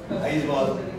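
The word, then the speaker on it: Aizawl: I saw many people pronounce Aizwal everywhere. We can write, nobody knows that AW stands for O.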